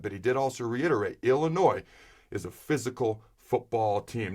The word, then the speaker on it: Illinois: When asked about the number 2 running back on the depth chart behind Anthony Grant for this Illinois game where the S is silent, he talked about Jacques